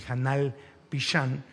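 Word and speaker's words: janal pixan: de cómo se celebra específicamente en Yucatán el janal pishan que así se pronuncia eh el es es algo fascinante el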